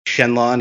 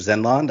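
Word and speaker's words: Xenlon: Example, like Shenlong instead of Zenlong.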